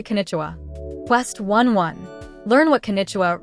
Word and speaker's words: こんにちは: The final ha is read as wah, not ha.